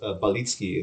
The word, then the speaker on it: Balicki: last name is pronounced it's pronounced balitsky in polish but it's so weird to go from english diction to polish diction so like whatever people say is fine you say no i don't i